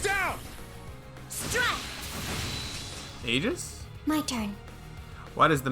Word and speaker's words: Aegis: It's pronounced Aegis.